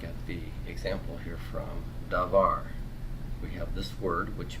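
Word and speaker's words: דָּבָר: This one had two syllables. This is davar, davar. Two syllables, because of two vowels.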